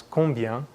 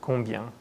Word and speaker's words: combien: Again, that sound is basically bien, so the French pronounce combien and très bien. Now, take another listen to our Québécois friend pronouncing the word combien.